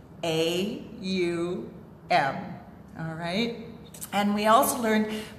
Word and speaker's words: Om: yesterday we learned that the proper pronunciation of ohm when you're a chanting is um a um alright and we also